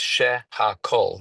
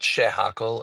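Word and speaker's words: שהכל: It's shehakol. The word is kol, right? The she and the ha are prefixes. So it's not shehakol, it's shehakol.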